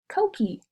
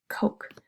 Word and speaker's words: coke: tricky one oh three you notice how this e doesn't make its own sound at the end so silent e it doesn't sync oak e Cokie no that's not the word it's just coke same with this next